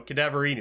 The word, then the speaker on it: Cadaverini: Cadaverini.